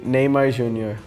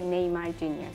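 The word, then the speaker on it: Neymar Júnior: haircut pop right now in Brazil we say Neymar Jor in Turkey we say Neymar junor in the United States we say Neymar Jor in France we say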